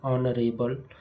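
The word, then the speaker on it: honourable: An honest man an hour N ऑनरेबल मैन एन एयर ये इसके example है। आप देखिए कि ऐसे शब्द जिनमें एच साइलेंट होते हैं लेकिन उनका प्रोनाउंसिएशन वोवेल स्वर उत्पन्न करता है।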